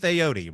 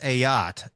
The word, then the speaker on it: Ayotte: I've probably called him Keith Aote. Right? Everybody goes, "Oh, Keith Ayote. Keith Aody." It's actually pronounced not a boat, but a yacht.